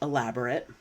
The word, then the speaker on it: elaborate: a verb so as an adjective this is pronounced elaborate and you could for example describe the movie set of Bridgerton as elaborate everything is ornate extremely detailed and extremely complex elaborate means to uh explain in additional detail so